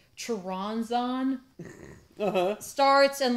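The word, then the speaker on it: Choronzon: So like his name, I never say his name correctly, but it's Charonzon.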